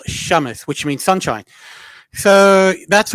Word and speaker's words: Samus: is my middle name it's actually pronounced Shamus which is a Arabic word for Sunshine it is Shamus wow so and also